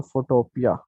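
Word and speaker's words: Photopea: लिख लें, वेबसाइट का नाम है फोटोपिया, PHOTO, फोटो PEA, फोटोपिया भी बोलते हैं, फोटोपी भी बोलते हैं, जिस तरह भी आपको अच्छा लगे, ठीक है। मुझे भी नहीं पता इसका क्या किस तरह प्रोनाउंस किया जाता है, फोटोपी कहता हूँ मैं तो, ठीक है जी।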